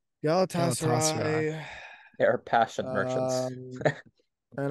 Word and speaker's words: Galatasaray: How do you pronounce the team that they lost to? Galatasaray. Galatasaray.